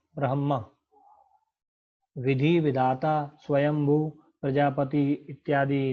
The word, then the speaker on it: ब्रह्म: ब्रह्म, ब्रह्म, ये ध्यान रहे ह म से पहले यहाँ पर अनेकों लोग इसका अशुद्ध उच्चारण करते हैं, उस पर ध्यान देंगे। ब्रह्म, ब्रह्म।